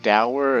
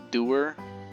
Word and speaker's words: dower: i just missed you did you just pronounce dower as doer uh british people